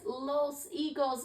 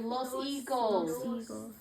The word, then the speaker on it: higos: So the word for this is los higos. Let's say it together. Los higos. Los higos. And the H there, you don't pronounce the H in Spanish, okay?